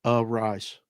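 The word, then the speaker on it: Arraez: Raj that's how you say it a rise thank you second syllable thank you Luis arise so so he's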